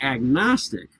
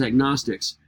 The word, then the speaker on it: agnostic: agnostic first of all when you put the a in front of it the G finally gets pronounced it's not silent as in gnosis or narcissism but when I say agnostic I'm saying without knowledge